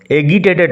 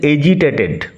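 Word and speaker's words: agitated: এজিটেটেড বানান লক্ষ্য করো, উচ্চারণ লক্ষ্য করো, এগিটেটেড নয়, উচ্চারণ হচ্ছে এজিটেটেড।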